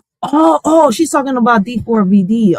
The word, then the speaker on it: D4vD: Oh, she's talking about D4 VD. Ari, did I say it right this time? D4 VD. Yeah, cuz I was saying too many D's the last time.